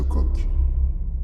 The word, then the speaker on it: Koch: bactérie mycobacterium tuberculosis ou bacille de koch et c'est la bonne prononciation opposants à l'entente des